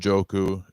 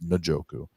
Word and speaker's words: Njoku: It's Hawinson, Andrews, Leaporta, and Jooku. It's actually Njoku, I found out. Not I keep saying I've been saying it wrong. It's Najoku.